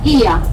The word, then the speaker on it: Oia: Van a verlo escrito Oia, pero se pronuncia Ia en griego.